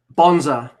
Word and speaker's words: Bonza: You know, I thought it was like a Jack Bonza, mate. Yeah, thank you. Jack Bonza.